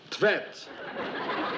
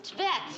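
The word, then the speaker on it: Tvedt: How would you pronounce that then? Tvet. T-V-E-D-T.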